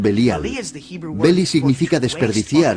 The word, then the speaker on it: Belial: Belial es una contracción de dos palabras hebreas, Beli y Yaal. Beli Yaal, que nosotros pronunciamos Belial.